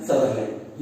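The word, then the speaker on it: Sutherland: तो उनका नाम था इवान सदरलैंड या सुदरलैंड भी आप बोल सकते हैं, हर किसी का अपना प्रोनाउंसिएशन होता है जिसको ये अपने से रिप्रेजेंट करते हैं, ठीक है।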